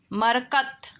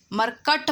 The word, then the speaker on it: मरकत: मरकत, मरकत, मरकट मत लिखना, ट मत लिखना, त लिखना।